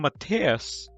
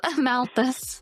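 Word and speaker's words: Malthus: I I kept calling him Matias. Yeah. No, it's M A L T H U S. Mouthus.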